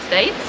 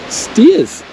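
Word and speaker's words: Staithes: was STS wouldn't you we've always called it STS we've always called it STS it's actually steers oh steers so that's the end of the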